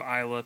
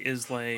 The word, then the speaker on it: Islay: Yeah, instead of Isla, people say Islay.